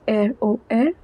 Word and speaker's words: RER: Le réseau express régional, commonly known as ROR, pronounced as ROR.